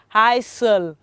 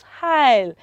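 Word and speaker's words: aisle: will pronounce this as high soul no children the letter s in this world is heil it's silent and so it is pronounced as heil repeat after me children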